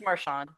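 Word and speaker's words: Marchand: Is it Marshand or Marian or Marand? It's Marand.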